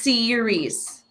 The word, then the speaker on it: series: So think about this first one is series. Series. TV series. So think 2 syllables. Series. So it has that E sound to be the long E, like sit versus seat, right?